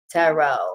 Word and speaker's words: tarot: But if you can't, just go to YouTube and type in HeavenlyDivineTaro without the T at the end. Tarot, because that's how you say it in most other languages.